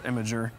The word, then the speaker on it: Imgur: How far Imgur memes have come? Oh, since yeah. Banana started on Imgur. Yeah. long Oh, time yeah. ago. Or Imager, depending on how you want to pronounce it.